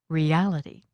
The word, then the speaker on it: reality: use this suffix real reality human humanity electric electricity the stress for these suffixes happens on the syllable just before this two-syllable suffix listen moral morality objective objectivity